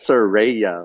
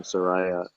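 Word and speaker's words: Saraya: the page all right she turned the page pronounce it right it's sir Raya okay yeah posted a Twitter correcting the pronunciation because a lot of people are saying Soraya that's what you're here for quality control all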